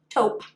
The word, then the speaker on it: taupe: in the shade taupe i think i've pronounced that incorrectly in previous videos but i believe it's pronounced taupe correct me if i'm wrong